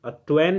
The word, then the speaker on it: Twain: हुआ है, मार्क नहीं, मार्क ट्वेन जो लिखा हुआ है इसको बहुत लोग वैन पढ़ते हैं। वैन सही नहीं है, ट्वेन ही होगा, या ट्वेन।